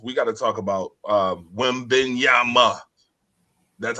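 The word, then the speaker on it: Wembanyama: But first and foremost, we got to talk about Wembenyama. That's how you pronounce it.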